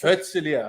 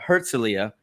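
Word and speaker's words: Herzliya: um how do you say this town what's herzelia herzelia just north of Tel Aviv I'm gonna have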